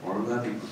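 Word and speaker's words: ergodic: 뭐냐면 앙상블 앙상블 일가딕 에르고딕 사람마다 다르게 발음하는데 일가딕 사람들 더 꼬아서 발음을 얼가딕 그런데 일가딕 랜덤 프로세스가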